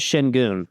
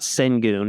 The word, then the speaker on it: Şengün: His last name is Şengün. It's not Sengun. It's not Senguin.